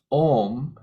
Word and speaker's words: om: syllable om and it's made up of three letters a-u-m so when you say the full Au M it's it becomes om and that's considered the